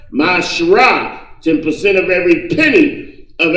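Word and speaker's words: מעשר: You can find this in Numbers 18:21, Malachi 3:8 and 10 means 10th in the Hebrew, and is pronounced Mashrah.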